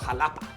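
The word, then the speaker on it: Xalapa: And the capital of Veracruz is this town called Jalapa. Jalapeno, spelled with an X. So J's and X's are pronounced the same.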